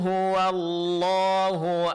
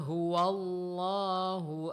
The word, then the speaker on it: huwallahu: Di sini perlu kita ingatkan pengucapan huruf wau sebelum lafaz Allah ini tetap ditipiskan. Jangan terpengaruh oleh tebalnya huruf lam pada lafaz Allah sehingga wau menjadi tebal. Ini adalah kesalahan. Jadi hua huwallah bukan huwallah.